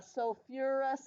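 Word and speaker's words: sulfurous: remind you who are the two weird ones that have three syllables so for ER and Foss or a sulfurus and phosphorus okay I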